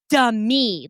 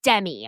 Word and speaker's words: Demi: It's Demi, like Demetria, not Demi.